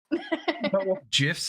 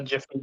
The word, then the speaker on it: GIF: cornbread mix uh the jfy cornbread mix you can't Gaslight me into thinking GIF is pronounced any other way but GIF okay JF huh it's GIF I think he's now